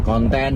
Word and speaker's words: konten: u dan n kemudian konten huruf k o n t e dan n Jadi bukan konten seperti dalam bahasa Inggris nah ini Tentunya memperkaya